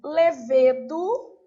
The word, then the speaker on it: levedo: tônica Win a ver eu tenho levedo ou lesado As duas são corretas está depois eu tenho